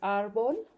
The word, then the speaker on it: árbol: So we pronounce that like ah when we're in the doctor and sticking out our tongue, ah.